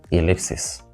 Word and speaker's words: ellipses: from the rest because whereas triangle is stressed on the first syllable the rest are stressed on the second syllable did you get them